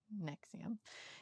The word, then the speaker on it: NXIVM: Keith is the founder of the cult NXIVM, spelled NXIVM, but pronounced NXIVM.